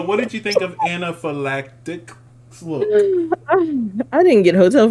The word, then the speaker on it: anaphylactic: what is it again anaphylactic anaphylactic you keep wanting to pronounce the p uh the pH is a f sound anaphylactic I still got